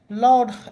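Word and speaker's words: laud: এটা আসলে কোন কাজের নাই আচ্ছা যাই হোক লর্ড এল ইউডি বালাউড অর্থ হচ্ছে প্রশংসা করা লর্ড এ উচ্চারণটা kind of এল এ ইউডি লর্ড মানে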